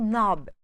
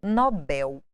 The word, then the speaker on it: Nobel: mais famosos mais assistidos prêmio Nobel vem do inglês com a tonicidade na primeira sílaba mas aportuguesado Nobel então cuidado uma coisa